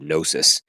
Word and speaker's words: gnosis: We get our word from the Greek word gnosis, which you can hear it sounds like knowledge almost, knowing, gnosis, except it's spelled with a G, a silent G.